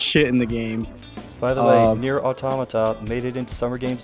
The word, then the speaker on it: Automata: the game but near automata made it into summer games done quick shout outs to have coordinated also it's pronounced auto Mata I made the mistake early it's not automata it's automatic onomatopoeia and